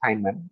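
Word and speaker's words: Feynman: boring because it is very comp name is pronounced as fan Richard fman was a great scientist phys to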